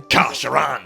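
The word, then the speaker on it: Kha'Sheran: He is a chaos sorcerer and war leader of the Kasharan. Do you want to say that again properly? Kasharan.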